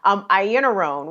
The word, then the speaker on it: Iannarone: And I'm so sorry to keep blanking on her name because I can see it in my head one way, but it's pronounced like a whole nother different way. Iannarone.